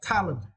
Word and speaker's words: talent: for the next words Talent it is now right and for this words you need to Str the first little go t talent talent okay Talent is meant